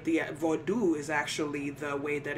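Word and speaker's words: vodou: attempt to make another tradition spooky right the vodu is actually the way that it's pronounced in terms of Haitian vodu which is the tradition that people are usually referring to when they say Voodoo but even the spelling of that um at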